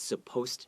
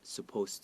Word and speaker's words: supposed: And one thing to note is I often hear my Taiwanese friends forget the D after supposed. So it's supposed to be, not supposed to be.